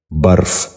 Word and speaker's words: برف: یہ غلط تلفظ ہے، اس لفظ کا درست تلفظ ہے برف۔ دوبارہ سنیے، برف۔ بچوں آپ بھی ذہن نشین